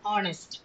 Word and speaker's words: honest: இதுக்கு என்னன்னா ஸ்டார்டிங் வந்து ஹெச், ஆனா இந்த 3 வேர்ட்ஸ்லயுமே ஹெச் வந்து சைலண்ட். அப்ப நம்ம எப்படி இதை ப்ரொனவுன்ஸ் பண்ணணும்னா அவர், ஆனர், ஆனஸ்ட் இப்படி ப்ரொனவுன்ஸ் பண்ணணும்.